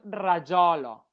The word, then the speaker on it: rajolo: es pronuncia rajolo. Rajolo. Rajolo. Un O así aberto.